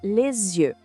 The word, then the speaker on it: les yeux: A gente fala les yeux. O S da palavra le acaba se juntando com o início da outra palavra, criando esse som de Z.